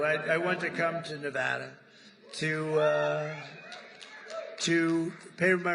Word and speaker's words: Nevada: And don't ever mispronounce their name. You're not allowed to do that. You mispronounce the name, you got a problem. You ever see somebody when they say it's Nevada? Nevada.